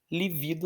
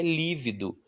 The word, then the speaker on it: lívido: E livido não existe. O que existe é lívido.